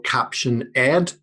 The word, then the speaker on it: Caption.Ed: product um which i'm going to call caption ed um ed is at the right pronunciation that's i would go with that because my name's ed and a captioned ed seems about seems fitting um um the